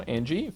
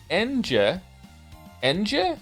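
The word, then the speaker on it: Ange: time all time now Angie favorite character of all time really I'm here to tell you her name is pronounced en Ena feel free to ignore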